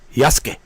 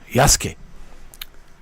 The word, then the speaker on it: Yasuke: Portuguese black guy called Yasuke. Yaske. It's it's it's we say it yasuk, but it's yaske. Yaske in um in Japanese yoke. Yaske. Uh but you might pronounce the yasuk, but it's y.